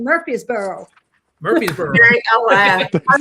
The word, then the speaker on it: Murfreesboro: Murfreesboro.